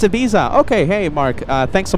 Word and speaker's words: Ibiza: Oh, it's Ibiza. Okay, hey, Mark. Thanks so much for clarifying. Ibiza.